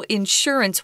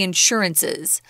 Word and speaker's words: insurance: uncountable so don't say insurances that would be wrong guys right and sometimes you may hear someone say insurance with the accent on the first syllable but most people say Insurance I'd like to buy